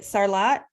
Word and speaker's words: Sarlat: Sarlat? Yep, Sala Rugby.